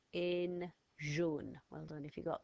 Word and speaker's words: jaune: So we've got a fast car sound, so this time it's not the G, it's the J. O is AU. N, and then the silent letter is an E again, like we had at the end of rouge.